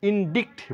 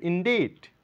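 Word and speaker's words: indict: নয় আমরা সি কে কোন সাউন্ড করবো না উচ্চারণ করবো আমরা জার জার এটা ইন্ডিক্ট বলে থাকি এখানে সি এর কোন সাউন্ড নেই হবে ইন্ডিট অভিযুক্ত করা ইন্ডিট একার নয় এখানে সি এর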